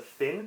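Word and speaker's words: phin: what this is typically called i believe the finn p-h-i-n um i'm not gonna try and pronounce it traditionally because that uh just butcher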